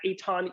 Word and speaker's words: Eitan: Yes, you can follow me on all the socials at Eitan, E-I-T-A-N. My name is spelled nothing like it is pronounced.